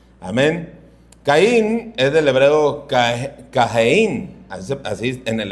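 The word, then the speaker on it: קַיִן: Caín es del hebreo Cajeín. Así se así en el hebreo así se pronuncia. No lo pronuncié muy bien, obviamente va no tengo el acento de ellos, pero Cajeín.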